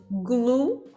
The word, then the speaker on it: glue: Glue, que é cola.